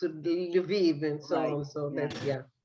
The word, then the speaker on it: Lviv: Well, so you pronounce it differently. In Polish, it's Lvov. Yeah, and Ukrainian it's Lviv and so on.